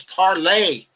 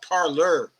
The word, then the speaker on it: Parler: The correct pronunciation of that is parlay. Parlay, not parlor.